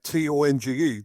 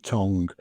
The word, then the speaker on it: Tonge: One thing I want to ask is your surname, Tonge. Do you pronounce it Tong or Tongue? It's Tonge, Tonge, Tongue, as in your mouth, tongue.